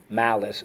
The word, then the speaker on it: malice: Mal-is. Malice. And no, it doesn't mean bad ice. Okay, so how do we mark this up? Underline the C and the silent E twice. Job number 3. That is but. Rule 2. You got it. Soft C when followed by Y, I, or E.